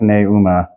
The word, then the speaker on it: pneuma: You can say pneuma, but that's really clunky, so it's almost always going to come out like pneuma, even though that's a diphthong. Pneuma, okay.